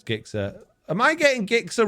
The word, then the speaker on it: Gixxer: don't even go there if you're telling me that g is pronounced with a j then you're wrong so are all the